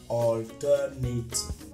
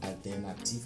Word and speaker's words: alternative: Un exemple clair est le mot alternative, qui est prononcé en anglais alternative et non alternative comme vous avez l'habitude de le faire en français.